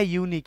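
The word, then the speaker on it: unique: কোশ্চেনটা this is এ ইউনিক এই যে ইউটা ইউ এর মত উচ্চারণ হচ্ছে এ ইউনিক অপরচুনিটি তারপরে হি পুল বয়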